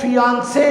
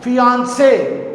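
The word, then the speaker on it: fiancé: में फर्क है क्यू लेकिन जो प्रनंसीएशन है वो फिआंसे ही रहेगा फिआंसे फिआंसे डब्लू नेहरू सिस्टर इन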